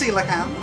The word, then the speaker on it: coelacanth: Coelacanth. That's right, it's pronounced Coelacanth.